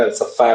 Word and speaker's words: Elsevier: एल्साफायर के पब्लिकेशन में, मतलब एलसीवीआर बोलते हैं, मैंने शायद आप लोगों को बताया होगा, एल्साफायर उसका प्रोनाउंसिएशन है।